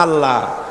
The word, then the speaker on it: আল্লাহ: না কেউ বলে না আল্লাহ আল্লাহ পাকের উচ্চারণটা হচ্ছে আল্লাহ পাকের নাম হচ্ছে আল্লাহ মুখটা একটু গোল হয়ে যাবে বলেন আল্লাহ আল্লাহ পৃথিবীতে